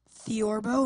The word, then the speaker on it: theorbo: Theorbo. Am I pronouncing that correctly? Yes, you are.